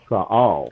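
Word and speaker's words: ישראל: Like Israel, the word Israel, we pronounce it Israel in English. That's not the original way that you pronounce that. It's Yashra'al. Right.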